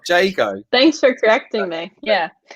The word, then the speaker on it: Jago: Do you mean Jago? Yeah, I said it wrong, didn't I? You're being that's the tech in you, because Django is that coding language, isn't it?